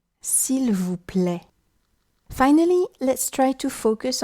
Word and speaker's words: s'il vous plaît: Then, for the letters AI, as appear in s'il vous plaît, try pronouncing E, s'il vous plaît.